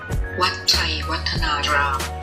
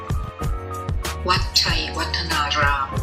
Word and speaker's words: Wat Chaiwatthanaram: next stop, I'm not really sure how to pronounce this correctly, so I need a little help from Google. Wat Chaiwatthanaram. That's it. Wat Chaiwatthanaram It is one of the most visited attractions in the Ayutthaya Historical Park.